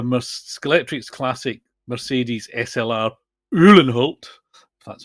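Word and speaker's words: Uhlenhaut: got uh the musk electrics classic Mercedes SLR ullenholt that's how you pronounce it which I had been looking at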